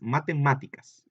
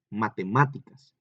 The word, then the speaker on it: matemáticas: lleva acento, pero sí, la voy a decir normal otra vez, matemáticas, matemáticas, ¿sí? ¿Dónde lleva el acento? También en la sílaba ma, ¿verdad?